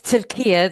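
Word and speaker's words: Türkiye: So it's Turkiye. They changed the name, but most people know it as Turkey. Okay. So she's now lived back in South Africa after having lived in Turkiye for a while.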